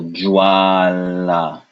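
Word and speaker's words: ज्वाला: It's that your tongue can say the J sound, whereas your teeth and your lip is really pronouncing the va.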